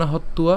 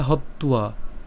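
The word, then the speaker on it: হত্বা: হবে প্রথমত গুরুন হত কেন কেন হত্তুয়া কারণ এখানে কি আছে অন্তস্থ ব আছে আর অন্তস্থ ব থাকলে এর উচ্চারণ কেমন হবে উতলে হত্তুয়া হ্যাঁ এটাকে যদি আমরা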